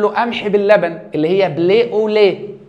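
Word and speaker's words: blé au lait: كلمه فرنساويه فيقول لله قمح باللبن اللي هي بلي اوليه بتتنطق كده بلي اوليه يعني قمح باللبن فاحنا قعدنا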